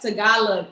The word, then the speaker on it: Tagalog: to say it wrong what is it tagalog okay tagalon so is that you got tagalog with the g f the garlic okay